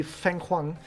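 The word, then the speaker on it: fenghuang: And especially if you Google the Feng Huang, I think is how you pronounce it, the sort of a Chinese style of phoenix, the Feng Huang.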